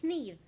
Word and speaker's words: kniv: So we say kniv now with a K, right?